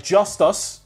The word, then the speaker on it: Justus: Justus, like Justice, spelled with a U and an S, was reported beforehand.